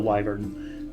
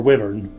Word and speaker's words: wyvern: Yeah, Wyvern and Wyvern are two accepted pronunciations for that word.